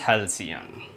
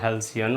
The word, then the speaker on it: halcyon: चलिए friends next word discuss करते हैं, और वो है फ्रेंड्स हेल्सियन। स्पेलिंग देखिए बड़ी प्यारी है, HALCYON, हेल्सियन।